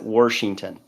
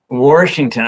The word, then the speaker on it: Washington: And by the way, we pronounce it Washington. Washington. Okay.